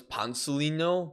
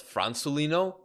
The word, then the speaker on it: Francelino: I I thought this guy's name was Pansolino, but it's Francelino.